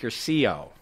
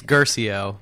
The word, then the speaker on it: Guercio: It's Guercio. Guercio. I got the accent on the wrong syllable.